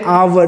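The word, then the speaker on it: hour: eight 100 किमी एन आवर तो H silent ओ का साउंड दे रहा वावेल साउंड तो वहां पे हम क्या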